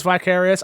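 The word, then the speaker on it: Vicarious Visions: how do you say is it veris visions viral russia thank you i knew it was and to be fair i knew it was vicarious i just i missed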